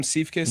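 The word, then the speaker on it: Siefkes: Sam Seifkis, Yeah.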